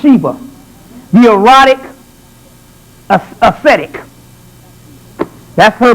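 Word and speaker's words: Siva: The Sheba, or Sheba, I think it's pronounced Sheba.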